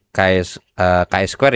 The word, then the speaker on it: chi-square: chi-square Ya, bacanya chi-square sebenarnya.